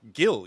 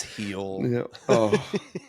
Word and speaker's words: Gil: bartender Luis heel no Gil you mean Gil right yeah no it's heel yeah oopsies note that